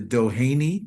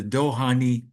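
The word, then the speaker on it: Dohány: So, in Hungary, there is a synagogue called the Dohani Synagogue. I don't know if you ever heard of it. Some people called it the Dohanei. The the pronunciation in Hungarian is the Dohani synagogue.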